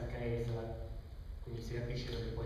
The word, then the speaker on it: Caesar: Sapete che Cesare è solo la pronuncia ecclesiastica umanistica, cioè non quella originale. La pronuncia originale, ricostruita dai teologi, era qualcosa che assomigliasse a Caesar.